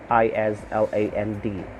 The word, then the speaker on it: island: have letter i island i-s-l-a-n-d island silent s but you have to